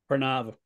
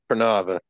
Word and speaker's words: Pranava: How do you pronounce it? Pranava. Pranava.